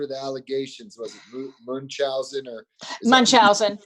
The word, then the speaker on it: Munchausen: Was it Munchausen or Munchausen syndrome by proxy, which I always have trouble pronouncing. Munch, like you're munching.